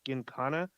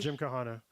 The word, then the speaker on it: Gymkhana: he has numerous uh I believe it's pronounced genkana videos Jim Kahana or Gymkhana uh videos which is